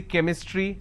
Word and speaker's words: chemistry: for example change but when i have the word chemistry ch becomes curse sound so i say chemistry i say chrome so